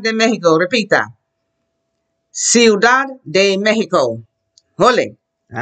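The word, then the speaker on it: México: here in spanish is pronounce the words correctly the way the Spanish would now you say Mexico you say Mexico speaking someone English okay in Spanish you should say what Mexico and your accent e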